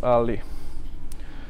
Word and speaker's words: a11y: So you have A11y, which is abbreviation. And the point in it, it's like between the A and the Y, you have like 11 letters. So, and it's actually pronounced early.